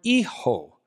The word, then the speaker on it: hijo: Okay, and then we get the word Hijo. Now, interestingly, the letter H, or as we call it in Spanish, H, is not pronounced. So you almost have to pretend that it's not there.